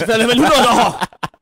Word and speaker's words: Villeneuve: You mispronounced that. You butchered the name. No, I got it right this time. The first time I called him Denis Villeneuve. It's Villeneuve.